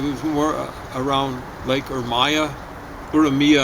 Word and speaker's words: Urmia: Urmia, I think, is the way the Iranians pronounce it at first.